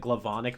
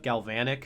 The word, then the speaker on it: Galvanic: Also, always low-key bothered me that she said Glavonic mechamorph instead of Galvanic.